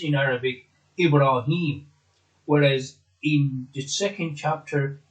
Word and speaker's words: Ibrahim: the clan it is held as in as pronounced in Arabic Ibrahim whereas in the second chapter is ever ahem